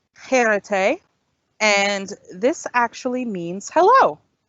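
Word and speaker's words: χαίρετε: So this is pronounced cherete. So let's say it again. It's cherete. It's a bit of a strong H sound, cherete.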